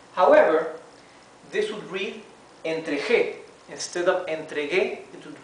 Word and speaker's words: entregué: Instead of entregué, it would read entregué because the G followed by an E changes its pronunciation, right? So we need to add the U for it to sound entregué and to have the same sound as it has in the infinitive, the G, g, right?